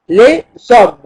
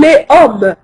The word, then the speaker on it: les hommes: ليه هنا لوحدها والاس تنطق مع الاو. اس او زوم. لي زوم. لا اقول لي ام.